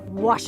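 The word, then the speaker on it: Ouachita: for was Baptist University back in Texas everybody pronounces it witch but really it's was wash was how would you pronounce it was was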